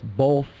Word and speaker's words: both: these words are unique because the th comes at the end of the word so